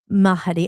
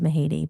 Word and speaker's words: Mahady: My last name is Mahedi. Mahi. Mahadi. And actually, my dad told me they used to pronounce it. It was ma ma mahadi or it was something and then it just went to mahi but but yeah my